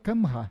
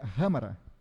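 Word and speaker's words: Khamrah: Esse aqui é o e tu vai ler Kamra, mas a pronúncia certa é ramara, que em árabe o K e o Há R.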